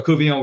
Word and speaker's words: Couvillon: And he walked up to me and he says, I says, "Kernel Kuon, we're glad to see you."